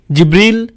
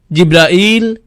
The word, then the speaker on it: জিব্রাইল: উচ্চারণ করেন তার নাম জিবরীল জিব্রাইল জিব্রাইল জিব্রাইল জিব্রীল এই পাঁচভাবে তার নাম উচ্চারণ করা হয় আর এটা বিভিন্ন কিরাতের